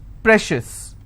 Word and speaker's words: precious: corn corn shifts okay precious how many syllables again pray Shish I will stress on pray same thing applies for